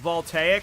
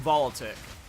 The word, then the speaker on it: Voltaic: It's pronounced Voltaic. I'm going to keep calling Volitic cuz now I now I think it's funnier that I was calling it Volitic.